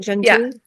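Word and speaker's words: Gentoo: And by the way, you call her Jen, is it Gen Two? How do you am I pronouncing that right? Gen two.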